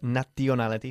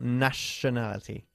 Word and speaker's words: nationality: No decimos nationality, sino nationality. ¿Ok? La T-I-O-N, este sonido siempre se pronuncia como una sh.